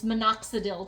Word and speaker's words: minoxidil: I stretch and I also use rosemary shampoo and I use a touch of menadoxil or uh menadoxil is how I pronounce it but it's minoxidil too.